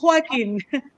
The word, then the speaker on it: Joaquin: So Joaquin, yes, it's a Okay.